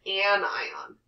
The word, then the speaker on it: anion: We can make what's called a cation or an anion. So listen to how I pronounce these. This is a cation and an anion. It's not a casion and it's not an anion.